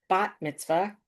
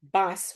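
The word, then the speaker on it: בת מצווה: And no one was surprised either that she insisted on using the modern Hebrew pronunciation bat mitzvah rather than the Yiddish bas, which they had all been grown up.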